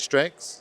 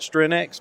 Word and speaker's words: Strenx: o and the strength how do you say it strengths yep strengths yeah some people call it strenx but it strengths oh okay so almost like strength but strength strength okay got it um what's